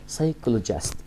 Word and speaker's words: psychologist: طيب psychologist psychologist البي سايلنت psychologist.